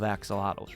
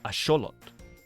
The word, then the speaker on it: axolotl: Yeah, the word was actually invented by the Aztec civilization and the correct way to pronounce it is asholot.